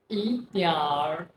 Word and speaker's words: 一点儿: 一点儿一点儿 To pronounce R, you just need to curl your tongue a little after you say 点. So, 一点儿 means a little.